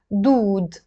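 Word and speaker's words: دود: have that wow dead so it's the together you will pronounce it dude dude I'm gonna write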